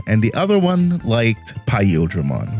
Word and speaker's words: Paildramon: Listen, the big difference was that one liked Era of Udramon, and the other one liked Paildramon, which it's pronounced Paildramon, not Paildramon.